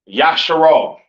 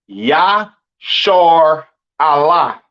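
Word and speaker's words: ישראל: And Israel is not pronounced Yasharal. It's not pronounced Yisrael in the Hebrew. That is not how you pronounce Israel. Israel is pronounced Yashar Allah.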